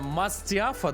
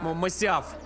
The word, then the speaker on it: Масиаф: Мастиафа, да? Я даже серию назову. Третий ключ Мастиаф, да, по-моему? Если я не ошибаюсь. Напишите в чате, как правильно пишется. Мастиаф, да, по-моему? Вроде... Ой, стой. Масиаф.